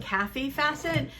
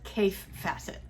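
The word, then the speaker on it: Kaffe Fassett: is a I always thought his name was pronounced Kathy facet but I've heard Adam from Adam sews pronounce it and he says cave facet so there is a challenge on Instagram from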